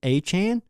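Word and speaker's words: Achane: and that entire time he called himself achain we called him achain everyone accepted that he was a chain and then he just goes to and it's spelled a chain and then he just goes to the NFL and all a sudden a Chan dude I can't get used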